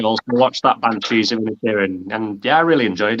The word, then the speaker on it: Inisherin: Yeah, I watched The Banshees of Inisherin, I believe it's called. I think that's how you pronounce it. Yes, you as a watched that resident Irishman, you did say it correctly. Thank you.